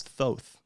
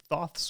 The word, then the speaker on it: Thoth: time was that this was thoth so it's pronounced thoth so this was thoth's way of leaving a breadcrumb trail for me